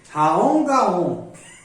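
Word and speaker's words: Raom Gaom: Raon Gaon. Pronuncia assim, ó.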